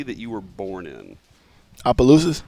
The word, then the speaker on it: Opelousas: How do you pronounce the city that you were born in? Opelousas? Opelousas.